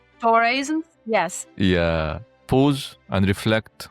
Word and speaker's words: Doraism: And I will recall something from one of your Doraism, if I'm pronouncing it correctly. Doraism?